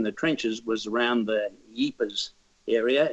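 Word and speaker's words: Ypres: trenches was around the Jeepers area it's pronounced in different ways between the French and the Flemish and the wounds of Belgium that he pries or Ebers was the area that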